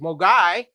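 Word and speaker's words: Mogwai: talk about in ten however moay means devil demon or Gremlin the Mandarin pronunciation is moy and an early attempt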